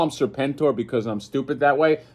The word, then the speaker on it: Serpentor: Serpent-Tor, I think, is the right way to pronounce it, right? Because on Hasbro Pulse, that's how they said it. Serpent-Tor. So, I mean, if Hasbro's saying it that way, it's got to be Serpent-Tor.